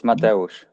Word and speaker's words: Mateusz: It's Mateusz. Mateusz, yes.